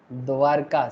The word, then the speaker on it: द्वारिका: किसका कैपिटल था द्वारका? किसने बनाया था द्वारका? द्वारिका, मतलब एक्चुअली संस्कृत में प्रोनाउंसिएशन होता है सर द्वारिका, हिंदी में बोलते हैं द्वारका, ठीक है।